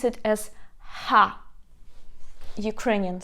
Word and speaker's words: Х: we pronounce it as Ha, Ukrainian sound. So let me just write you the transcription. In the alphabet H or Ha, Ha. For example, when you laugh, ha ha ha, ha ha ha.